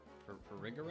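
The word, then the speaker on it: Farigiraf: Farigarath?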